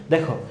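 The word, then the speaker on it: the: দি ভাল সাউন্ডেরর আগে এর উচ্চারণ হবে টিচ এর উচ্চারণ হবে দি আর কনসোনেন্ট সাউন্ড এর আগে এর উচ্চারণ হবে দা বঝা গেল যেমন হচ্ছে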